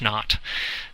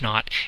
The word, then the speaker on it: naught: so it's Delta H naught some kids think it's not n ot but it's actually not like zero and nothing so anyway it's Delta H nought that's the enthalpy measured